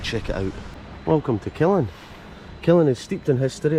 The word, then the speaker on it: Killin: and gave his name to the village, Kilfinnan, pronounced Killin, meaning the burial place of Fingal.